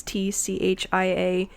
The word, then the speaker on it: Tchia: If it's pronounced like Chia, something like that. It's TCHIA.